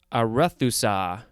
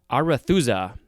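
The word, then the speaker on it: Arethusa: sure now we have a rethusa no arathusa capital a r e t h u s a this is a noun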